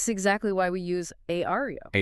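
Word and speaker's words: Aira: This is exactly why we use Aario. AA and that's spelled A I R A, right?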